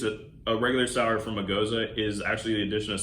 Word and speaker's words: gose: Now, Gose is spelled Gose. Yeah, some people say Gose, but it's Gose.